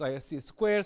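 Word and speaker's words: ISC²: because previously people thought it was hard to pronounce it is IC Square so they just wanted to make it simpler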